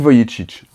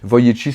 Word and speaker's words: Vujicic: mode je pense à comment il s'appelle Nick Vujicic.